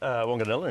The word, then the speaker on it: Wanganella: Tim, am I pronouncing it right? Wanganella, indeed.